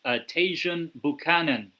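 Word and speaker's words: Tajon Buchanan: Now obviously uh Val over the weekend uh beat Jirona 5-nil obviously for any Canadians Tasjun Buchanan that that's how you say his name.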